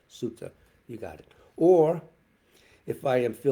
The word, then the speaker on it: Sutta: in the Metta Sutta, or Metta Sutta. That's a Pali. They use the pronunciation Sutta.